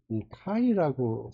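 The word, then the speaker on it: chi: 요거를 어 어떻게 읽냐며 저 맨 처음에 치라고 읽었는데이 카이라고 사람들이 있더라고요 그래서 카이 스퀘어라 본 거예요 이것도 디그리 오 프리덤이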